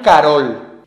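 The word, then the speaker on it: король: De hecho, en la lengua rusa moderna, la O átona se pronuncia como A. De este modo, la palabra rusa korol se transforma en Carol.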